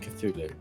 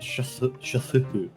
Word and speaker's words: Cthulhu: I'm fairly certain that Cthulhu isn't actually pronounced Cthulhu. Probably isn't, but I'm used to it now. It sounds off otherwise. It's like It's like Shalu or something.